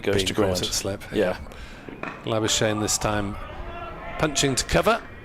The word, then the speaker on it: Labuschagne: Labuschagne rhymes with champagne or Labuschagne, approximately.